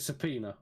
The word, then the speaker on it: subpoena: jump are you got it open is it subpoena yeah thank you yeah surprise i always struggle with that pronunciation thank you of the company um beyond